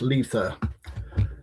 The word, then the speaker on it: Litha: It's pronounced L double E sound and then thirst. Lether.